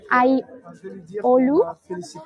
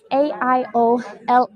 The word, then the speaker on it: Aiolou: And now we are in one of the main streets, which is Aiolu, which is spelled as in Aiolou.